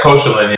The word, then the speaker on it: Koszalin: I guess the city you were playing in is Koszalin. Is that correct? Yeah, Koszalin. Yeah. That's how they pronounce it.